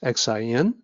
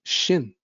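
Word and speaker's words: 信: The pinyin starts with X, Xin. That's the rule of romanization. But the X is actually SH in pronunciation. So it sounds like Xin.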